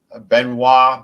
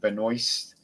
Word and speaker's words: Benoist: one and cbs um melissa benoit but she pronounced it benoist um but yeah it